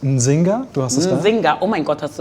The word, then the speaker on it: Nzinga: Nzinga, oh mein Gott, hast du das gut ausgesprochen? Machst du das nochmal für mich? Nzinga.